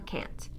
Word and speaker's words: can't: you that stressed a the long a is what makes the difference rather than listening for a tea from now on listen for how the a is pronounced and you will know whether it's can or can't of course if you